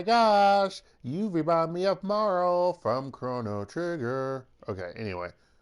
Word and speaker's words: Marle: Or Marley, or however people pronounce it. I never pronounce the E. I guess it could be Marley, or Marla. Okay. But I always said Marl.